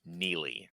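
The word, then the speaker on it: Neagley: him yeah always say her character always say negly just because the way it's like spelled it says like it's any AG it's spelled NE yeah it's spelled negly but it's pronounced Neely yeah yeah so it's like oh that that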